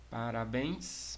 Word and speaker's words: parabéns: tônica é a última Parabéns mesma coisa Parabéns aqui já engraçada com acento gráfico é uma oxítona né a última sílaba forte nós temos também a